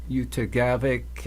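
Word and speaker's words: Utqiagvik: coast, central Arctic coast around Point Barrow, or Utagavik, I believe it's pronounced, had about 0.04 of an inch in the last 12 hours.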